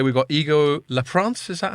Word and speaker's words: Leprince: So I'm delighted to say we've got Igor Leprince. Is that how I pronounce it?